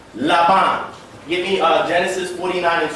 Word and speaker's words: Laban: Laban in the Hebrew. That's a lamed, that's a bait. If you have the dogesh in the middle, it kind of alters that pronunciation. But at the end, you have a final nun. Laban.